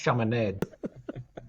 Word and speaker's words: Chaminade: It's pronounced Chaminade. Like lemonade.